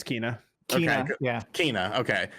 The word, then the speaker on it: Kena: It's Kena.